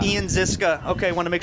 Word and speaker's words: Ziska: Now, So, Ian, and I want to make sure pronunciation on the last name. Ziska. Ian Ziska.